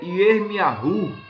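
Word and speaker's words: ירמיהו: João, como nós pronunciamos, em Jerusalém, ou no hebraico, é chamado de Yohanan. Jeremias é Yermiahu.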